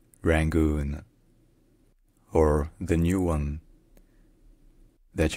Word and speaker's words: Rangoon: Yangon, and in English, there are many different pronunciations. You have the choice to either use the old transcription, which is Rangoon, Rangoon, or the new one that you can read